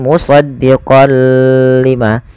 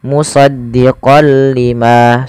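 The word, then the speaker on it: مصدقا لما: Tidak dibaca dengan musaddiqol lima, tapi hanya musdiqol lima.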